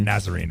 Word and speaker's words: Nazarene: That's how you say it, Nazarene.